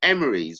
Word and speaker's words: Emrys: And Merlin's full name was Merlin Emerys, which is spelled Emrys.